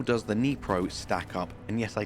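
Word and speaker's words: Dnipro: But how does the Nipro stack up? And yes, I did Google, I believe that's the correct pronunciation. It's definitely a silent D, I know that much.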